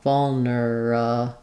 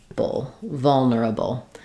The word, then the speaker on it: vulnerable: So we can do, it's always going to be stressed on the first syllable, vol. And then the middle syllable with the there is optional, vulnerable. So one way would be to say it fully with 4 syllables, vulnerable. You'll also hear people reduce